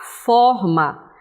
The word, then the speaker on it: forma: mais aberta, encontro a forma. Observe que o acento tônico aqui, ó, é aberto, certo?